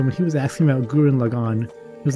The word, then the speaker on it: Gurren Lagann: And he's really bad at pronouncing Japanese names, so when he was asking about Gurren Lagann, he was like, hey Felly, what's the one anime with Simon and Yoku? It's Genkin Lagann.